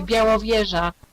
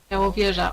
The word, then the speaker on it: Białowieża: Białowieża, Białowieża, or Białowieża.